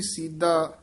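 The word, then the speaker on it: ਸੀਧਾ: छोड़ अपठा बुनना य सीधा दद नाल नहीं बोलना सीधा सीधा छोड़ अपठा बुनना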